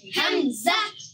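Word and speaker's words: همزة: Hamza. Hamza, Hamza. Hamza শব্দটা হাম বলার পরে এই জায়ের মতন একটা শেষে জাহ, Zah. জাহ, Zah. মানে শেষে একটা হায়ের মতন আসবে এবং একটা ধাক্কা দেওয়ার মতন হবে, যে হামজা Hamza.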